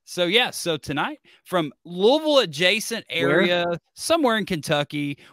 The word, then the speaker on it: Louisville: the Sluggers you know it's Louisville like like many people say like you have to say it like you have marbles in your mouth but you know that